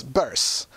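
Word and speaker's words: Bearse: happy to meet Amanda burst the female lead of one of my favorite horror movies fright night and yes it's verse as in hearse I've been apparently pronouncing it wrong all these years too she was kind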